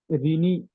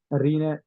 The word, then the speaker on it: René: اور رینی بھی کہا جاتا ہے، لیکن اصل لفظ جو لاطینی زبان جس طرح سے اگر اس طرح سے پڑھا جائے تو اس کا تلفظ رینے رینے ڈیکارٹ اس کا نام ہے.